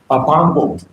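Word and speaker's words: Pangong: അതെ, എന്താണ് അതിന്റെ ഉച്ചാരണം? എന്താണ്? പാങ്കോങ്. ഞാൻ പോയിട്ടുണ്ട്, പക്ഷെ മറന്നു ചെയ്യാം.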